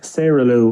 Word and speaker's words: Sara Lou: a look for that as well so it's Sarah Lou or as people might pronounce it as you say saralu s-a-r-a-l-o-u Sarah